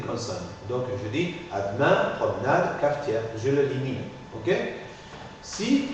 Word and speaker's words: promenade: je n'articule pas par exemple ademain ademain ad promenade promenade cafetière cafetière la aide demain la aide promenade la aide cafe fetière je ne l'articule pas d'accord parce que va précéder d'une consonne donc je dis adain promenade cafetière je l'limine ok si à l'intérieur d'un